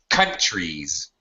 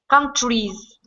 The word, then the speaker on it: countries: I I should be I should be stressing the first syllable I'm sorry countries countries small s or z z because it's it's a vowel sound Z no not more